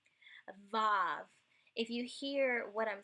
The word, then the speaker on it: Vav: Hey is pronounced like the H in help, transliterated with an H. Vav. If you hear what I'm saying, Vav, there's kind of like a V type sound